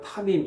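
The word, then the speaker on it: תמים: 히브리 말로는 타밈, 이렇게 발음을 합니다.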